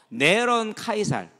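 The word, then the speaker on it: נרון קסר: 그러면서 그 이름이 666인데 이게 뭐냐면요, 네론 카이살. 그러니까 네로를 히브리식으로 말할 때 그렇게 발음이 됩니다.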